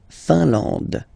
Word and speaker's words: Finlande: A-N, nasal, en. And then D, final E, not pronounced. La Finlande.